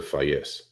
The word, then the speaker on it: Phaésse: The easiest way would be Fa, F-A, and then yes. So Phaésse. Phaésse.